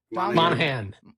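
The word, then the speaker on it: Monaghan: Monahan.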